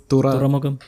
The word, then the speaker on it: തുറമുഖം: The other one was Thuramugam, the Rajeev Ravi one that has been in the Is that making how for it's a while. pronounced? Yeah, തുറമുഖം. Thuramugam. Okay. Thuramugam. തുരയല്ല തുറ. Thuramugam.